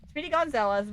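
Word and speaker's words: Speedy Gonzales: Speedy Gonzalz. Yeah, the little mouse. I said his name wrong apparently last time and I got caught for it. So, Speedy Gonzalez, the little mouse from Looney Tunes.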